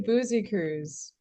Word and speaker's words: Busekrus: Yeah, it's actually Busekrus.